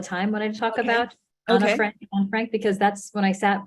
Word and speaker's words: Anne Frank: which is, I think we usually refer to Anne Frank, but there's a suggestion in the book that the proper way to say it is Anna, like Anna and Sana and Hannah. And I just want to know, should we be saying Anna Frank?